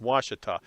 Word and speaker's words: Ouachita: doesn't sound doesn't look like washington but it's pronounced washita i have never fished the lake yet but